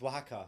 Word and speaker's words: Oaxaca: Is it Oaxaca? Osaka? Yes, it's Oaxaca. Oaxaca. Because people, the way it's spelled, it looks, you know, you pronounce it, English people pronounce it differently.